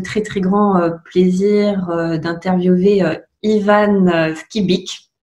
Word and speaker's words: Ivan Skybyk: Et aujourd'hui, j'ai le très très grand plaisir d'interviewer Ivan Skibic. J'ai bien prononcé. Ah oui, c'est parfait.